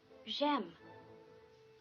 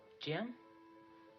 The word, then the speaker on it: j'aime: J'aime. What? J'aime. Jam? No, j'aime. Jam? No, you have to sort of pucker your lips.